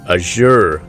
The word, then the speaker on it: Azure: And now they also have what they call the Azure cloud computing platform. I'm not even sure I'm pronouncing that correctly, but it's A-Z-U-R-E, Azure.